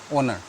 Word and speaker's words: honor: It should be, here starts with a consonant, but when you pronounce the word, it is honor. So no H sound, therefore we'll use an.